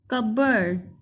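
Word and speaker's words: cupboard: Cup word, ठीक है, इसको बोर्ड नहीं पढ़ेंगे। वैसे स्पेलिंग याद करने के लिए आप पढ़ सकते हैं। कप इसको पढ़ लें और इसको बोर्ड पढ़ लें, और जब इकट्ठा पढ़ेंगे तो आप पढ़ेंगे इसको कपबोर्ड, ठीक है, अलमारी।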